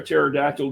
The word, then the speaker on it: pterodactyl: Um, why can't you hear a pterodactyl go to the bathroom? Oh, Rob, I was doing some internet work earlier today because the P is silent.